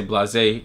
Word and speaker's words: Blasé: we have the blase pronounced blase in French but we say blase here in the states so we have three